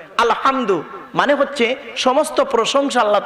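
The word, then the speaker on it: الحمد: আলামিন বলি না আলহামদু এই গলার ভেতর থেকে এটা উচ্চারণ করবেন আলহামদু মানে হচ্ছে সমস্ত প্রশংসা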